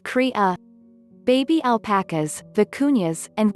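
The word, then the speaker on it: cría: a baby llama is called a crya which is spanish for baby it's pronounced kriya baby alpacas the cunhas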